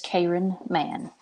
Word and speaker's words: Cayron Mann: say it wrong but is it Karen or Karen man it's Karen man there we go you